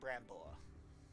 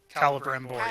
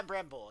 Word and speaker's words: Celebrimbor: Oh, for as long as he's with Brambor. Celebrimbor, yeah. Celebrimbor, yes. It's an elf name and it's hard to pronounce.